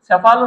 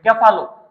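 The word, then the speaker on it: cephalo: যতটুকু পড়াইতেছি স্যাফালো শব্দের অর্থ বা এটাকে বলা অনেক সময় ক্যাফালো। ক্যাফালো বা স্যাফালো দুইটা উচ্চারণ হয়। স্যাফালো বা ক্যাফালো।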